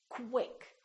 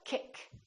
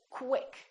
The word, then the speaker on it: quick: quq when we have words that are spelled with q u they're pronounced as k w so there's a little